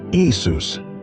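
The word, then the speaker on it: Iesous: The Greek language didn't have a Y sound at the beginning of words, nor did it have the esh sound. The closest equivalent they could create was Isus.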